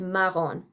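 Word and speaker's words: marron: because there's only one form of it there's maron and that's all you get there's also the word blonde and blue which you can use as well but in our textbook they're only talking about maron so that's the only one i'm going to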